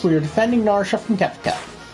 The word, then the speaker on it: Kefka: We are defending Naria from Kika. I pronounce it with the E because that it just seems kind of like a German name like Gerta and such.